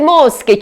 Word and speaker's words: mosche: Ottava frase, ma quante mosche ci sono oggi? Ed è vero, prima tra l'altro ne è passata una, non so se ve ne siete accorti. Mosche, che si scrive C-H-E.